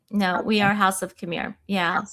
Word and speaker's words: Khmer: Khmer.